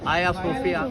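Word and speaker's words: Hagia Sophia: Greek Orthodox church बनाया आयासोफिया उसकी वो जी साइलेंट वो आया सोफिया है तो वो ग्रीक ऑर्थोडॉक्स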